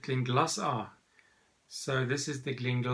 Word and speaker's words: Glenglassaugh: the Glen glossa evolution I always thought it was link la so but then the guys at the distillery said now you pronounce it clean glass R so this is the